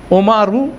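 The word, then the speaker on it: عمر: ওমর বলে দিচ্ছি তাইলে আরবি উচ্চারণ কি ওমর আইনের উপর উপর পেশ মিমের উপর জার জবর তারপর হচ্ছে র উপর পেশ ওমারু ওমর যদি থেমে যায়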